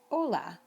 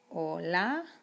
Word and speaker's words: hola: careful with that but you know that hola is pronounced without the h so build on what